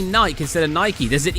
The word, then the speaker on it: Nike: Nike is my favorite one. I'm pretty sure I brought this up one of the other times I played Infinite Pizza. Nike. They pronounce it Nike.